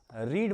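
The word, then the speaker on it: read: करना टॉक और talk रीड मतलब होता है पढ़ना आर ई ए डी रीड मतलब होता है पढ़ना स्पेलिंग सेम रहेगा लेकिन रीड रेड रेड हो जाएगा ठीक है एक्सेप्ट एक्सेप्ट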